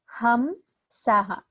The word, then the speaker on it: Hamsa: Ham Saha. It is said like that. So inhalation, exhalation. So Ham Saha.